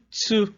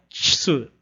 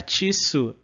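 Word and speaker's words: つ: Então a segunda seria o ti, como a gente fala em tia, e o tsu, como a gente fala em tsunami, né?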